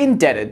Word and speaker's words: indebted: As you see, the silent letter remains when you modify the base word by adding suffixes. Doubted, doubtful. With that in mind, this one could be a bit trickier.